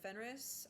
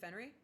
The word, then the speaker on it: Fenris: I mean, my name is uh Fenris. Uh is it Fenry? Fenris. I don't feel like you pronounce the S. I feel like I'm wrong for that.